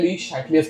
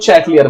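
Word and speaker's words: Le Chatelier's: अब इसका pronunciation actually होता है ली शैटलियर्स प्रिंसिपल। शैटलियर, शैटलियर, ठीक है। हम लोग इंडियन है, हम लोग चैटलियर बोलेंगे, ठीक है।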